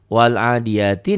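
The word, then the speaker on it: والعاديات: Bacanya kalau dihentikan jadi wal adiyat.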